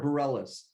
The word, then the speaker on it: Bareilles: Um, Actually, it's Sarah Bareilles, but you're close.